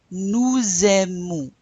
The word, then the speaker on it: nous aimons: Nous aimons. Oh, I'm pronouncing that S because the verb starts with a vowel.